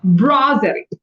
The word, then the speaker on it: brasserie: On the terrace of a brasserie, Brasserie, you pronounced this word correctly.